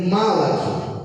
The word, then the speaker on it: malach: A palavra anjo em hebraico se escreve malach.